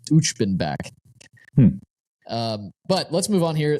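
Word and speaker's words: Uchbenbak: Also, I just looked up the pronunciation. It's Uchbenback.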